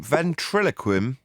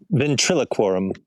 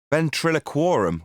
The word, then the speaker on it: Ventriloquorum: Ventriloquim? How do you say it? Ventriloquorum. Ventriloquorum. Wow, I was never going to get that the first time.